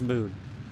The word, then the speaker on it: Mun: I refuse to say mud. that can still be pronounced as moon despite its silly spelling.